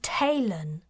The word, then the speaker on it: Talon: she touched her chest my name is Talon taylon she repeated emphasizing the syllables can you say that